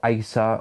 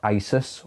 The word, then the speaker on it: Asus: I would look at either Sony or ASA or Asus or Asus as some people pronounce it um they're all good